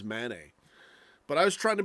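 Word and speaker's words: Mané: back to saying sadio Mane because I checked the actual sound how to pronounce it apparently it is Manet but I was trying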